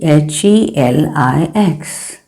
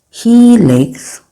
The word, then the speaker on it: helix: One you can see H E L I X. It is pronounced as helix. The helix is pronounced as he licks like how you say